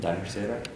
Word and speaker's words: Danish Sara: How do you pronounce it? Danish Sara?